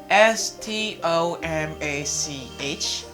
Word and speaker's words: stomach: k s after the word kills we have s t o m a c h stomach stomp stomach stomach ache egg stomach egg